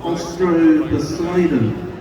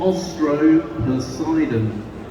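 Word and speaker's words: Austroposeidon: How do you pronounce this? Okay, this is it's a sauropod, and it's a kind of sauropod called Ostro-Poseidon. So, can you say sauropod? Sauropod. Sauropod. And it's a sauropod called Ostro-Poseidon.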